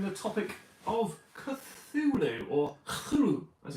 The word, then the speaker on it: Cthulhu: I'm the ever excitable Adam, and today I'm going to be covering the topic of Cthulhu, or Cthulhu as it's pronounced properly.